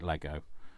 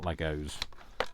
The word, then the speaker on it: Lego: So, and yes, we call it Lego and not Legos. So, it's a never put an S on the end of it. Not in the UK anyway.